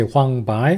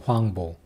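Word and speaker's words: 黄柏: can say huangbong yes both are correct you can say huang bai or huang bong huang bong bolster correct so this is just romanization there's no absolutely right way or wrong way so similar pronunciation so you don't have to get confused huangbo huangbao both are allowed and jiji so huang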